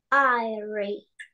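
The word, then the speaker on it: aire: Airy. Airy. Не робіть оце англійсько «айре». «Айре» – у нас читаються всі букви.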